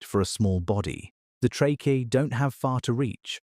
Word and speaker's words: tracheae: They have a network of tubes called tracheae, pronounced tra-key-e, that run from holes along the sides of their body called spiracles directly into their tissues.